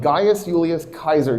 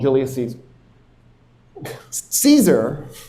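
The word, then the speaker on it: Gaius Julius Caesar: The reason that battle took place is because of what a guy named Gas Julius Kaiser did. You guys incorrectly call him Julius Caes Caesar.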